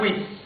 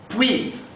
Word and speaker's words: puits: Et la prononciation c'est puis, pas puis. C'est-à-dire la lettre T ne se prononce pas, la lettre S ne se prononce pas, et la vraie prononciation c'est puis.